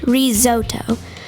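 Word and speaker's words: risotto: meanwhile Chef Doug made risoto pronounced rizoto that's a kind of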